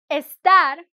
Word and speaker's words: estar: So you say estar, you have to say the E.